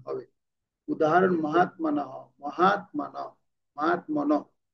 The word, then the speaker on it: মহাত্মানঃ: উদাহরণ মহাত্মানঃ, মহাত্মানঃ, মহাত্মনঃ, এটা হ উচ্চারণটা অর্ধেক হবে মহাত্মানঃ।